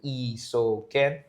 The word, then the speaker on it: Isoken: My name can be a little bit hard to pronounce, so I kind of break it down into Isoken.